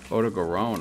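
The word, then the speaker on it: Odogaron: Oto Garon, huh?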